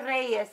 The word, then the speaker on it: Reyes: I want to say Reyes in Spanish because like kings? It's royalty, Reyes. But R-E-Y-E-S because in Spanish it's Reyes.